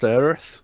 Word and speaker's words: Aerith: It's pronounced Aerith.